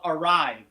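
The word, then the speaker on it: Arive: about a tool called arrive arrive is spelled a r i v now this tool arve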